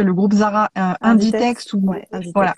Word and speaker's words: Inditex: Maintenant dans le textile en général, bah, on a le groupe je sais jamais le prononcer, le groupe Zara Inditex? Inditex ou Ouais, voilà Inditex, c'est ça.